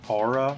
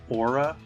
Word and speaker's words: aura: Apparently, I was pronouncing aura wrong. Apparently, you're supposed to say it aura, which makes no sense because there is no word in the English language where AU is pronounced O other than aura.